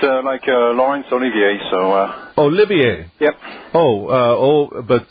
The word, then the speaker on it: Olivier: So Olivier. Yep. Oh, but spelled like Oliver.